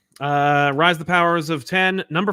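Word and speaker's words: Powers of X: So we have to assume, since this is obviously a kind of retread or kind of homage to the beginning, and it is, that it should be pronounced Powers of 10.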